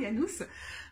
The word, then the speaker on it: Janus: Je ne sais pas, alors je vais le prononcer en latin, Janus, avec ses deux faces.